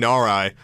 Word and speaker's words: Narai: Oh my god, I've been mispronouncing it this whole time. It's King Narai.